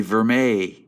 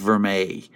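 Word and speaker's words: Vermeil: as you can see in the picture the verm a room is pronounced ver May it's a type of metal it's a it's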